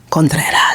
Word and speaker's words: Contreras: social media this year like the beautiful conas oh thank you and you pronounced my last name like properly serious contas